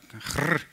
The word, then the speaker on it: Grrr: Like, maybe first the pronunciation, because people do ask me that. Like, kind of depends on my mood. You know, sometimes you need to challenge the status quo and it's more like Grrr.